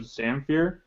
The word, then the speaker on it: Zamfir: have our guest tonight we have Vlad of zamere am I pronouncing that right yeah that's right so you